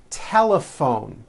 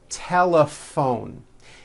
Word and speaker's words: telephone: in that word laugh telephone notice the pH combination in that word is also pronounced as an F telepone it's the same thing